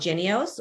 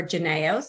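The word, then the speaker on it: Jynneos: the public health world the vaccine is called genius or genius depending on the pronunciation preference it is author currently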